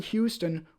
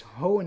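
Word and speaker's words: Hoenn: Professor birch lives in Houston where he studies did I say Houston it's hone of course look at that hone is spelled kind of strangely there he lives in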